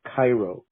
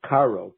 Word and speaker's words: Caro: shogunate as rav joseph cairo his name is joseph caro k-a-r-o nothing to do with the city of cairo it's a very common